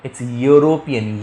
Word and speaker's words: European: It's European. Y. That's a European. Same way here I'll use N because my H is silent.